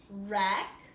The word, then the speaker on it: wreck: The words over here also have silent W's. Wreck, wrench, and wrap.